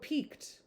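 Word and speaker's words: piqued: p i qu u e d PE B peaked stimulate feel irritated and resentful stimulate you have peaked op Peak peaked my interest lady midleton peaked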